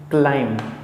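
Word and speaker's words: climb: word दिया हुआ है क्लाइम क्लाइम पढ़ते हैं इसको हम क्लाइम नहीं क्लाइम पढ़ते हैं क्लाइम तो जिसे हम क्लाइम पढ़ते हैं तो यह क्लाइम एम के बाद बी आ रहा है इस कारण से यहां पर बी साइलेंट हो जाता है सेम इसी प्रकार से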